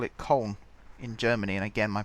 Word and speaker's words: Köln: So it's not Cologne. We call it Cologne in Britain, but they call it Köln in Germany.